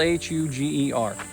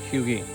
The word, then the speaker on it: Huger: I thought it too it's spelled h-u-g-e-r I thought Huger I was wrong according to the sign it's pronounced hugee and it was named